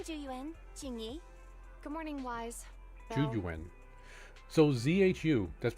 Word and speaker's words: Juyuan: Juyuan. So ZHU, that's pronounced Jew. Ju, so ZH is pronounced as a J. Juyuan.